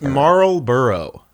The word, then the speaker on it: Marlborough: definitely a marble marlborough how do you say that name marlborough it's marlborough i also saw uh